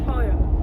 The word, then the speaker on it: pollo: The only word I knew was like chicken, which is pollo. So yeah, right, and then how you pronounce it?